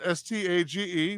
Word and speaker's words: stage: Spelled S-T-A-G-E, best pronounced stage.